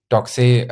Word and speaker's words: Doxee: Doxy, I pronounce it Doxy because I thought Italian, and because it's written Doxee.